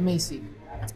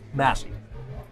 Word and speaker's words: Massey: We're here with Justin Massey, or is it Macy? Massey.